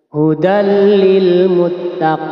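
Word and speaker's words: هُدًى لِلْمُتَّقِينَ: Bacanya ini tanpa mendengung. Hudallil, hudallil. Tidak boleh dibaca hudallil, hudallil. Itu salah karena itu ada mendengung. Idgham bila gunnah dibaca masuk tanpa mendengung. Hudal lil muttaqin.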